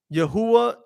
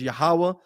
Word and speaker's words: Yahweh: between yahuwah and yahawa yahuwah is a bastardized way of saying the most high's name which is yahweh which is the correct